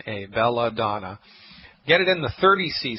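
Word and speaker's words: belladonna: Foods or any health food store it's called belladon that's home apathic belladon B like Baby E L L A D like David O N N A belladon get it in the 30C strength C like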